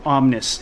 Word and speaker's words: OMN1S: in the first place it's spelled omn the number one and s so it's a word it's an actual word omnis it's a latin word